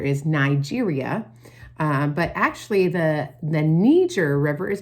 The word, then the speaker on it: Niger: But actually, the Niger River is pronounced Niger because that area was established by French people, and so they pronounce it Niger, okay?